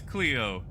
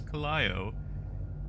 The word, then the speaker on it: Clio: Don't tell me it's Cleo. I went to Wikipedia, looked up like the fancy dancy pronunciations and everything. He's like, oh, traditionally it says Clio.